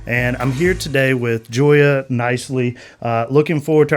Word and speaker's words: Gioia: I'm here today with Joya Nicely. Uh looking forward to our conversation together. Joya, not spelled with a J.